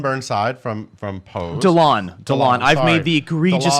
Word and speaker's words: Dyllon: Dylan Burnside from Pose. Delon. I've sorry. made the egregious Delon error Burnside. of mispronouncing that.